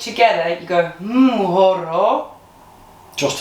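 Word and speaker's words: mhoro: But anyway, so an M and an H together, you go horo. Just an M and an H together. So it's M-H-O-R-O.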